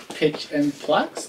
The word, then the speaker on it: Pitch and Plakks: what does it say pitch and plucks is how you pronounce it can you guys see